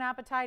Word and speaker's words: apatite: that we call neon apatite. It's spelled A-P-A-T-I-T-E. Not like the kind if you haven't had dinner and the tummy's rumbling. Not that kind.